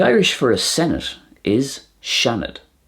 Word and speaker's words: Seanad: The Irish for a senate is seanad. Seanad.